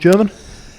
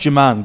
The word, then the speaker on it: Jerman: Is it pronounced German? It's pronounced Jerman, but I just take whatever I get, to be honest.